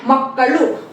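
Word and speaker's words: ಮಕ್ಕಳು: बच्चे को कहते हैं मक्कल मक्कल यहां फ्रेंड से देखिए सेकंड वाला है ल जिसका उच्चारण में जीभ जो है ऊपर टच होता है ल ठीक है ना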